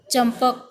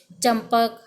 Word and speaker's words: चंपक: प वर्ग का चंपक, प प प म वाला होता है ना, तो अब ये चंपक, चंपक थोड़ी बोलेंगे हम, म का उच्चारण करेंगे ना, इसका अनुसार है तो चंपक, गुंबद, दंभ।